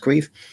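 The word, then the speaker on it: Caimh: for queef and queef as most of you probably know is spelt c-a-i-m-h being an irish name pronounced queef and um i keep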